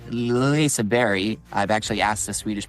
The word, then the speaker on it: Liseberg: me I mean, Liseberg, but it's said Liseberg, because it's kind of like French, like you just touch the G and it's more like a Y. So, Liseberg.